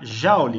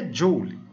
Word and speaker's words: Joule: cena James prescott Joule a gente costuma pronunciar Jauli mas o nome dele é dyuly James prescott Joule ele